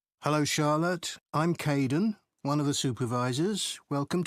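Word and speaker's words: Kaeden: welcome to the team hi Aiden uh it's Kaden I'm so sorry oh don't worry people often get my name wrong they never know how to spell it it's k a e d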